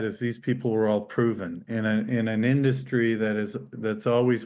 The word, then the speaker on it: PRVN: It's called Proven, but it's not spelt with an O Yeah, I'll or an start.